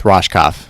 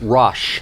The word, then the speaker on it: Rohskopf: It's Rohskopf. Rosh. Yeah. Like an Rohskopf. SH. Rohskopf. Yes. I never say Max's last name, so I had to learn I try to avoid it, too. Yeah, Rohskopf.